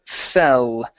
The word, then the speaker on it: fell: go to the word fell okay let's make sure we're using an e sound instead of it fall off far it's fell past tense but it fell off